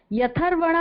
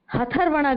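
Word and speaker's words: ह्यथर्वणा: ह के पैर में य लिखा हुआ है तो या का उच्चारण पहले करेंगे और ह क्या है, आधा है, यथर्वणा, ठीक है।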